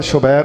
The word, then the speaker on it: شبیر: میں بیٹھے ہوئے ہوں، لیکن میں نے حسن، حسین اور محسن کے وزن پر شبر، شبیر اور مشبر یہ تلفظ کیا ہے۔ واللہ عالم، لفظوں کے